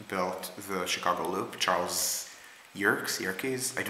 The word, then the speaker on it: Yerkes: same person that built the Chicago Loop, Charles Yerkes. I do not know how to pronounce his last name. this guy. It's Yerkes.